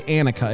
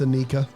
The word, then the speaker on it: Anika: how do you say I keep wanting to say Annika it's Annika Anika it's Anika Annika was letting her Grandpa